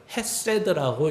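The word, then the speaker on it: חסד: 그래서 후대에 하도 읽는 것이 변하니까 후대의 편집인들이 이제 몸도 찍는 거죠. 그러면서 저것을 헤세드라고 읽는 것입니다.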